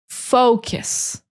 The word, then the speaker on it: focus: So you need to say faux, really emphasize that faux, focus. And the end is just like kiss, like a kiss.